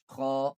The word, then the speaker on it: خ: ha ain ha ain ha Then, ghain kha. These both letters kha These both letters pronounce from the upper part of the throat, which is near to the mouth.